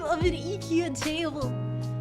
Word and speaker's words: IKEA: That's the name of an IKEA table. Everything is the name of an IKEA table. I always called it IKEA, and I was told by a Scandinavian, it's pronounced IKEA, you uncultured swine.